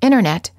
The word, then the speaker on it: internet: Americans T after n the T after an N or an n Sound is often silent instead of saying internet you will frequently hear Americans say internet this is fairly standard